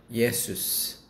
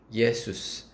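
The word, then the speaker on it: Ἰησοῦς: 대해서 대답하십니다 호 에고에이미 예수 헬라어로 예수 한글로 예수라는 단어가 헬라어로 발음이 어 예스입니다 예수님이 사울에게 말씀하는데 에고 나는 에이미 예수스 시디케이스 대답하되 주여 누구시니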